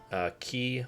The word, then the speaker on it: Qi: It seems kind of weird, but in my case, I had a couple of Key wireless charging pads. I think that's how you pronounce it, QI.